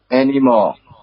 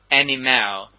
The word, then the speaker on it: anymore: the pronunciation of anymore how do you pronounce the word anymore anymore yeah I heard you said an email an email sometime the examiner if